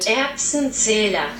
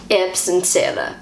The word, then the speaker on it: Erbsenzähler: This is how Google pronounces the word. Erbsenzähler. Erbsenzähler.